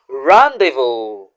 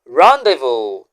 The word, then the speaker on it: rendezvous: The letters zed and S in that word are both silent. So, how do you pronounce the word again? Rando. Rando.